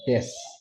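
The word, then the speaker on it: です: Bunyi-bunyi itu bunyi vokal itu kadang ada yang hilang ya kayak u di akhir itu sering enggak dibaca ya. Su itu-nya enggak dibaca aja dibaca des gitu ya.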